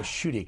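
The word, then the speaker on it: Schuette: of them on the defensive we're in the shooty case if that's the way you pronounce it yes that's exactly how you pronounce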